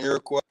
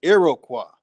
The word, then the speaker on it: Iroquois: Before I dig into these, I'm gonna show some words in Iroquois.